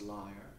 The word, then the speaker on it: lyre: Greek musical instrument the lyre it's pronounced liar you know that that